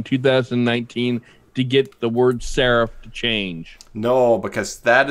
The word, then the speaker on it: serif: Serif.